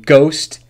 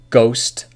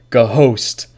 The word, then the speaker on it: ghost: The H in ghost is silent. And the L in F is silent. So listen closely. Bomb, ghost, half. Not bomb, ghost, half.